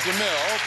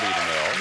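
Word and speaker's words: Deimel: You pronounce it DeMille, but it's not as in Cecily DeMille.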